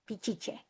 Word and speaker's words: piche: So again, because the Spanish couldn't pronounce the sh, they change it to a ch piche.